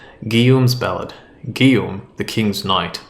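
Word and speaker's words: Guillaume: Uh, I believe it's Guillum and I think it's the French version of Julian. Guillum's ballad.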